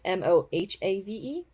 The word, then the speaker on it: Mojave: Rising, The Season of Vengeance, Ghost Mojave, but it's spelled Mojave, not Mojave, which is the correct spelling, but it's Mohave.